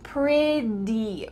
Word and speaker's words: pretty: Now, if you want to sound like an American, the word pretty, even though it has T's, it's going to sound like a D sound. So try to say it with me. Pretty, pretty, pretty.